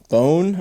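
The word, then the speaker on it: Boon: Francois and that's from bone I think is how they pronounce it you know looks like the word moon but pronounced bone right and uh this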